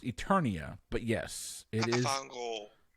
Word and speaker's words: Eternia: it I will give you the points it's pronounced Eternia but yes this is pronounce incorrectly at least I got it correct thank God Eternia is your correct answer and we're gonna move